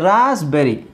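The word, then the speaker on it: raspberry: psychotic ಹೀಗೆ ಇಲ್ಲಿ ನೋಡಿ ರಾಸ್ಬೆರಿ ಇಲ್ಲಿ ಮಾತ್ರ ಪಿ ಸೈಲೆಂಟ್ ಆಗುತ್ತೆ ರಾಸ್ಬೆರಿ ರಾಸ್ಬೆರಿ ಅಂತ ಹೇಳಲ್ಲ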